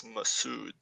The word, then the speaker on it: Masood: Just to clarify on the name, I think his name is pronounced differently when you speak in Arabic, but I think for English purposes, it's Masood, because I think just